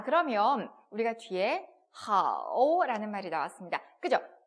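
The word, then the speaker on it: 好: 자, 그러면 우리가 뒤에 하오라는 말이 나왔습니다. 그죠? H와 AO가 합쳐졌어요. 어떻게 읽는다고요? 아오와 흐 발음이 합쳐졌습니다. 하오라고 읽죠. 삼성이 들어왔으니까 하오 이렇게 읽으면 되겠습니다.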